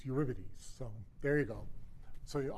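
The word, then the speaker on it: Eurybates: So when you look at these things in um in orbital element in space you see clumps right and everybody uh uripidities is the brightest I have to say we've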